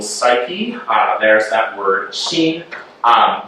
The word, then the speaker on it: xin: Uh there's that word keen. Um you can pronounce this word like we pronounce uh the name of the American poet and philosopher Charlie Sheen.